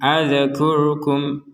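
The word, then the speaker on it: أذكركم: sukun padahal tidak boleh contohnya ad adkur adkurkum ad tidak ada e Tidak ada pantulan tidak ada harakat berbunyi e a enggak ada e-nya sama sekali enggak ada sehingga terbacanya harus jelas dia adalah huruf mati adkurkum adkurkum ro juga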